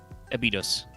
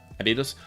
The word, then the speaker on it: Abydos: Well, assuming that by the way, assuming that the name is spelled, is meant to be pronounced the same way as the city in Egypt, it's, Abydos. Abydos?